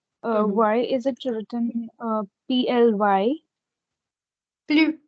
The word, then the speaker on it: plus: Plus. It's plus. It's not pli. Please don't mispronounce.